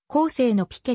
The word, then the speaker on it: ピケ: 分かっていないフランス語ではピケと発音し最後の d は発音しないます英語では t を発音することもフランスも風に i 型と発音することもあるピケのルールは